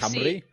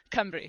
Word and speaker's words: Cymru: But like the U is a Y and the Y is a U because if it's Camry. Yeah. A U is an I pronunciation and then a Y pronunciation is. So it is phonetic in Welsh. But obviously reading it Cry. Camry. Perfect. That's really good.